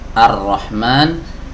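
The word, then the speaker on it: الرحمن: diet tidak dibaca begitu juga huruf lam yang ada di sini tidak dibaca karena dia bertemu dengan huruf ra yang tasydid kasusnya sama seperti ya sebelumnya ar-rahman ar-rahim sama ya huruf roknya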